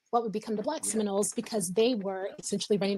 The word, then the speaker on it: Seminole: a Creek word or Muskogee word, and it's pronounced Seminole or Seminole.